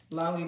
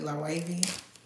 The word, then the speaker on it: Loewe: um the wavy glasses a lot of people pronounce it lovely but it's really low wavy shout out to Eric